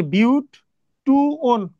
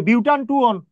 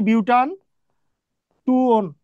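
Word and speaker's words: butan-2-one: দুই নাম্বারে ওন আছে কারণ ও এনই তাহলে বিউট টু ওন sorry বিউটান টু ওন এটার সঠিক উচ্চারণ হচ্ছে বিউটান টু ওন তোমাদেরকে আর আবার বলে রাখি এইটা যদি কেউ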